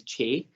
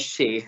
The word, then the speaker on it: Shay: So a lot of people, like especially American people, you'll hear them pronounce me as Che. Yeah. But it is Shay.